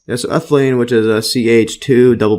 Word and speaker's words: ethylene: of the as ethylene see the pronunciation ethylin yes so ethylene which is a ch2